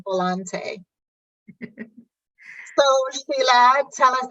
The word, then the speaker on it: Volante: with Dr Sandy and today I have Volante hi is that how did I pronounce your name correctly you pronounced it perfectly